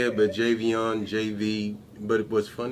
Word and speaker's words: Javian: is the correct way to say it but jv on jv but it was funny i always call